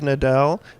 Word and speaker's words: Nadel: Hi, my name is Brian Rogal, and we're here at the 2012 Midwest Energy Solutions Conference, and we're here with Nadel. Am I pronouncing that right?